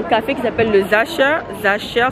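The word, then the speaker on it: Sacher: Zacher, ça s'écrit S-A-C-H-E-R.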